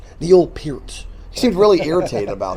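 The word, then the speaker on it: Peart: I mean Lee and Pier, it is Pier by the way. I remember watching interview with him years ago and people always say my name's Neil Per. Neil Per. It's not per it's P. Neil Pier.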